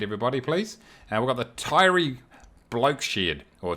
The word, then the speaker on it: Taieri: We've got the Taieri Bloke Shed, or Taieri as it's supposed to be pronounced.